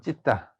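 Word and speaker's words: citta: 마음심인데 그것이 빨려로 C-I-T-T-A 찢다라고 찢다. 자, 같이 하면 찢다. 자, 빨려서는 C를 갖다가 찌읍 발음 내요. 찌읍 발음. 나머지는 다 발음 기호하고 거의 다 똑같습니다.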